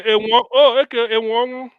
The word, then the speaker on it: Enwonwu: No, the other name you just pronounced here. Is M1. Okay, Okibo. Okay, Enwonwu.